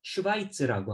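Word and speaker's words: Schweiz: 스위스가 있고요 스펠링은 다르겠습니다 그리고 독일어로는 슈바이스라고 합니다 슈바이처라고 하면 스위스 사람이라는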